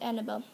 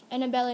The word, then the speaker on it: Annabella: she had been taught by a woman named Annabelle Annabella now Jameson said kir was startled she's still alive and four syllables she is very old her sight is